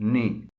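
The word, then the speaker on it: knee: The letter के is sometimes silent as इट इज इन नी।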